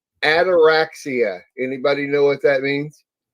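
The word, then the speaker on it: ataraxia: know this was an actual condition is called anorexia anybody know what that means anorexia it this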